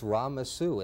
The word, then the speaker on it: Ramesu: as a child, but the whole statue is a rebus. The falcon is Re. I mean, you know, it's the child is phonetically Mes. The plant he holds is Su, and it's Ramesu, and it's a rebus of his name.